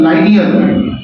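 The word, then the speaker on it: linear: दरअसल लीनियर नाम का कोई शब्द होता ही नहीं, इसका सही उच्चारण होता है लाइनियर, बट लाइनियर बोलने में थोड़ा ठीक नहीं लगता, इसलिए लीनियर बोल देते हैं।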